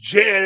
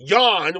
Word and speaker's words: Jan: what it's not pronounced Jan it's pronounced Yan which is a which is a man's name in German and that's ma the